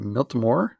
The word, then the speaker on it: Miltimore: our uh teachers uh at the school miltomore is that is that right yeah that's perfect